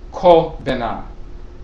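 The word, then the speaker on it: Kwabena: Kwa Bena is also spelled in some dialects and pronounced Ko Bena.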